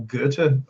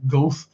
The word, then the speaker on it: Goethe: I used to call Goethe Goethe, for example, for years.